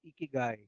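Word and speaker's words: ikigai: the way are talking about this word called geeky guy which is can you spell that I K I G a I okay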